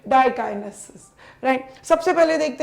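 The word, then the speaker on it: diakinesis: Zygotene, pachytene, diplotene, right pronunciation बच्चा ऑल ऑफ यू, डाइकाइनेसिस।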